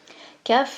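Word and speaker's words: כ: Kaf, c'est une lettre double. On l'appelle Kaf ou Raf, parce qu'elle peut se prononcer K ou R.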